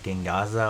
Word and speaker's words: Gengaozo: But other than that, I think that is enough showcasing for the new Gengaza over here. That's how you pronounce it.